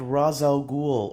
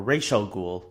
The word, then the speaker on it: Ra's al Ghul: the demons head and we have Ra's al Ghul or Rachel Ghul sorry when the movies